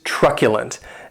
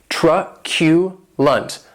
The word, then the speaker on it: truculent: the next adjective is truculent and this word has three syllables and the stress is on that first syllable keep in mind that